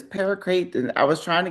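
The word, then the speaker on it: paraquat: Like, how do you, is it paracrate? And it's paracrate.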